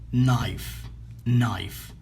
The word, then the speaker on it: knife: knife، لا ننطق K. أوكي. لماذا؟ لأنه متبوع بN. knife.